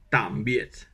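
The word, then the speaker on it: tạm biệt: pour dire au revoir on dit Tam B donc Tam comme Tam Tam t m et ensuite billette billette mais il faut mettre un point sous les deux et un point ça se prononce comme quand on est surpris en français ah donc ça fait Tam B Tam B voilà au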